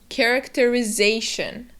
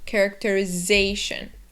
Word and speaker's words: characterization: The other thing is that those last four letters, the T-I-O-N, are just like in any other instance in English, read as shun. Characterization. And remember to stress that syllable before. The shun. Characterization.